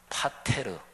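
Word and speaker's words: πατήρ: 그런데 헬라어로 발음하면 아버지라는 단어가 파테르, 영어 father 또는 독일어 vater 이게 다 이 헬라어에서 나왔죠.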